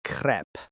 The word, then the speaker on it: crêpe: To get the pronunciation right, focus on the e sound.